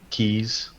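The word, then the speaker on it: Caye: the coast of belize they call them keys uh c-a-y-e i think is how you spell it the keys all of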